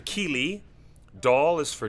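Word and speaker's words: Kíli: Key is for Keely.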